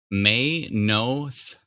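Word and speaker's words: Maynooth: i have found out locals call it may no th may know oh so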